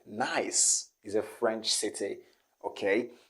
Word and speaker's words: Nice: french city okay people are gonna say nice because we have this word in english but when it comes to this city in france is gonna be nice not nice as in in english